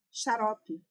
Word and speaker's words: xarope: Quando eu digo xarope, é o som do ch, som de ks.